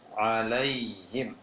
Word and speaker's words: عليهم: Kemudian alaihim masih terbaca lay, seharusnya alaihim alaihim.